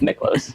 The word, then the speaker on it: Miklos: your name, Miklos? That's how my 8th grade English teacher pronounced my name. I've always gone with Miklos.